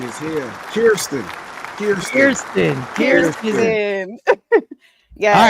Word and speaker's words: Kierstin: That I and that E says ear. That is Kierstin.